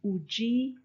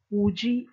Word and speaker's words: Udi: So you can hear how there's almost like a curve on the U when you say Uji for he is.